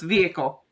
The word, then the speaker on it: vehicle: car you're gonna say vehicle how do you say it exactly I'm not even sure in Texas vehic but I've lost my accent so it's vehicle I don't say the H yeah okay good vehicle